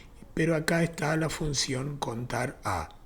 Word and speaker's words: CONTARA: Contar sí conjunto también amerita un video aparte, pero acá está la función contar a o contará, algunos le ponen el acento en la A, yo prefiero llamarle contar a o contar alfabético.